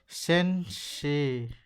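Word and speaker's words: 先生: हो जाती थी ना ऐसे ही ए के आगे अगर इ आता है तो वो ए की लॉन्ग साउंड हो जाएगी। अब एग्जांपल की बात करें तो एग्जांपल कैसे हो जाएगा? जैसे कि टीचर टीचर को क्या बोलते हैं हम? चैपनीज में सनसे। ठीक है? अगर मैं इसको रोमाजी में लिखूं तो कैसे लिखेंगे? शन से ठीक है अब यहां देखो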